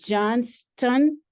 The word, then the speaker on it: Johnston: Now, I want to be sure I'm pronouncing Michelle's last name correctly because I see a T in it. Is it Johnston? Correct.